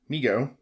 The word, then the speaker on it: Mego: response to overwhelming demand migo pronounced migo corp was started by his father david abrams in 1954 and named by his younger brother howard who would say me go to howard later became